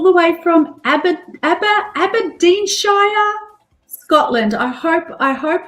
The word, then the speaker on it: Aberdeenshire: only incredible all the way from Ab ABA abadin Shire Scotland I hope I hope I pronounced that correctly all the way from Scotland